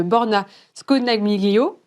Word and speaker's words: Borna Scodagmo: Pour en parler, je suis ravie d'être en compagnie de Borna Scodagmo. Je prononce bien. Tout à fait.